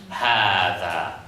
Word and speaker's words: هذا: Okay, so we write it like this, but we still pronounce it as it should be. Hada.